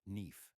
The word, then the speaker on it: knife: Take the word knife, for example. In Middle English, it was pronounced neef, but after the vowel shift, the K went unspoken, and the E morphed into the diphthong AI.